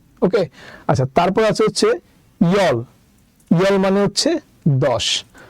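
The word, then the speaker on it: 열: ওকে, তাহলে এটা উচ্চারণ হবে আহব, আহব মানে হচ্ছে 9। ওকে, আচ্ছা, তারপর আছে হচ্ছে ইয়ল, ইয়ল মানে হচ্ছে 10।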